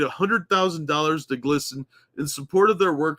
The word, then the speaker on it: GLSEN: and merch collection will be donated to glsen pronounced glsen a lobbying firm with the goal of pump